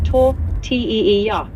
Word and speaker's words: tortilla: Paella is pronounced pa-e-h-ya, and tortilla is tor-t-e-e-ya.